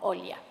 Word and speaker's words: Olia: My name is very easy for Spanish-speaking people because it sounds like hello.